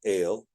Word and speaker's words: El: So if we have the word El, or El is a better pronunciation, El, and we can see